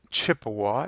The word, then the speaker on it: Chippewa: and on northern Wisconsin Chippewa is the English pronunciation of that but Ojibwa was part of that and lived